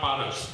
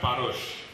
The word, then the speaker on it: Parosh: But I was admonished, first of all, for pronouncing Paras wrongly. It was not Paras, but Parosh, Mr. Ghosal and Shunu together, almost in unison, said.